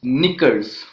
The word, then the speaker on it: knickers: Then we have the words knickers, knock, knowledge, and etc. So these are the words in which the letter K is silent.